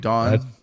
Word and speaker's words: Dawn: You don't hear it, Tom, but you pronounce Dawn as Don, like a guy's name. Dawn.